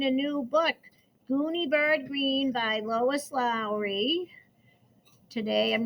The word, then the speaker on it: Greene: My name is Gooney Bird Greene. That's green with a silent E at the end, and I just moved here from China.